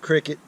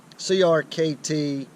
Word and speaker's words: CRKT: River Knife and Tool, not to be pronounced cricket, but Crkt Spew knife, and that's small pocket everyday Warncliffe.